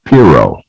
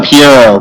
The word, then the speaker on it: Pierrot: on my list is piro did i say your name right piro uh it's uh pierrot but yeah yeah i